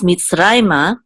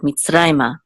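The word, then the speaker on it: מִצְרַיְמָה: Now, so it's mitzrayma, and because the accent is on a rai right here, this is where we'll have the emphasis of the word mitzrayma.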